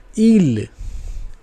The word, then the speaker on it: île: The next alphabet is I, and for I it is pronounced E in French. It is pronounced E in French. That, as you can see, pronounced E. It is pronounced E in French. Okay, for example, île. Île.